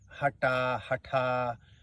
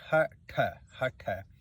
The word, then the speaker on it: Hatha: So the word Hatha comes, or to begin with, I have heard people pronouncing Hatha. It's the word is Hatha, and it comes from the two Sanskrit roots, Ha and the Ta.